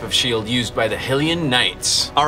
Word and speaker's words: Hylian: We think it's Hylian, but we've seen a lot of people say Hylian and Helium, like.